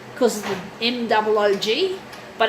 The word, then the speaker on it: Moog: And the name, it's often referred to as a Moog because of the M-O-O-G, but it's actually pronounced Moog.